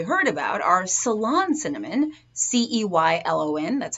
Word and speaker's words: Ceylon: Two that you've probably heard about are Ceylon cinnamon, Ceylon, that's how it's pronounced, or rather that's how it's spelled.